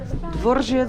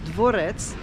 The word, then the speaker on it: Dworzec Wiejski: Dworzec Wiejski. From when I heard the man talking, I realized I didn't say it. I said it wrong. I thought it was dworec, but it's dworzec.